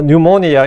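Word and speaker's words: pneumonia: 우리가 뭐 노우 나이트 할 때 K가 묵금되는 것처럼 헬라 P를 이제 명해서 발음 안 해서 이제 그냥 뭐 뉴모니아 이렇게 뉴메릭 할 때 이거 이유는 이제 발음 안 하는데 그 뉴스 하면 앞에 P가 있습니다.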